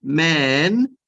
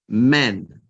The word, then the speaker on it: men: So just once more, but make the e a little bit shorter. So not man, we want men.